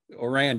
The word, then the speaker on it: Ourand: It's John Ourand, right? Ourand, you got it.